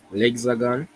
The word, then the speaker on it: l'Hexagone: Okay, what is the first letter of the alphabet, the French alphabet? A. Okay, I didn't hear that sound. L'hexane, Lexa, and then what? l'hexagone, Lexagon, exactly.